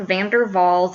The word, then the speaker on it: van der Waals: man these are called Van der Waals it's it's either German or Austrian so pronounce this like Volkswagen like that W so it's van der Waals forces there are dipole interactions